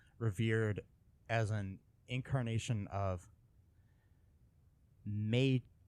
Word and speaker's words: Maitreya: I think that's how you pronounce. In Chinese Buddhist culture, Budai came to be revered as an incarnation of Maitreya, Maitreya.